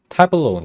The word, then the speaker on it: tableau: 분해 정리 증명기라고 번역했고 그다음에 Tableau 예 발음은 맞네요.